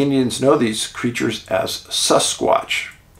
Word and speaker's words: Sasquatch: know these creatures as Sasquatch they pronounce that sus s-u-s hold your taters for